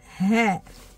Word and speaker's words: ه: On est arrivé à une lettre Ha. Ha. C'est une lettre qui, on peut dire que tant que prononciation, ça n'existe pas en français.